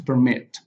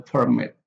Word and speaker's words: permit: conduct the contrast the permit the protest the process so we for the noun the stress is on the first level but the verb is uh on the second syllable we also have the